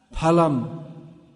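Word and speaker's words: फलम्: Yeah, correct Sanskrit pronunciation where we see PH is pa. Palam for fruit.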